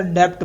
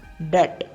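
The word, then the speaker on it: debt: next word है कर्ज जिसको हम अक्सर डेप्ट बोलते हैं पर डेप्ट नहीं होता इसके स्पेलिंग में जो बी है वो साइलेंट रहता है इसलिए उसका सही प्रोनंसिएशन होगा डट डट नेक्स्ट वर्ड है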